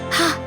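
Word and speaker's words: הַ: Imagine you're cleaning the glass and you are using your breath to clean it. Ha. Ha is how you say the.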